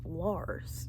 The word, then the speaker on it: Lars: on his purple shirt is Lars and it rhymes with Mars Okay so for some